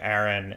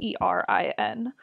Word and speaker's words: Aaron: But I guess if you say the boy's name Erin and the girl's name Erin.